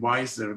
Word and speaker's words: Weiser: didn't have to change my last name Weiser because it's very similar to Budweiser so everybody knows how